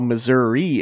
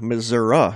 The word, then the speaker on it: Missouri: the state differently while Missouri is common Missouri is also common furthermore some people pronounce the first syllable myth and others ma and the middle consonant as either an S or a Z some older people won't